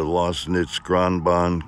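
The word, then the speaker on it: Lößnitzgrundbahn: capital l-o-s-s-r-n-i-t-z valley railway in german it's a lost knits gronbon capital l-o-s-s-n-i-t-z-g-r-u-n-d-b-a-h-n it's 750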